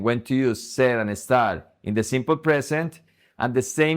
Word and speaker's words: estar: Remember that estar is the only verb in the simple present that has the stress in the last syllable.